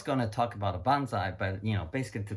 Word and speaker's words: bonsai: bonsai to Chinese character the Japanese pronounces bonsai and the Chinese pronounced as pansy which means the potted plants